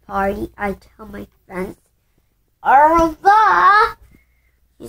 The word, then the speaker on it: au revoir: Au revoir!